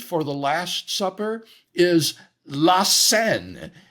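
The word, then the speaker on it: La Cène: the Last Supper is Lassen it's spelled Cen but it's pronounced the same way as the river that winds through Paris Lassen so this was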